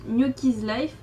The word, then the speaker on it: Gnocchi's Life: Donc mon pseudo se prononce Gnocchi's Life parce que Gnocchi c'est mon surnom. En fait mon prénom c'est Gnoc et mon surnom c'est Gnocchi comme les gnocchis.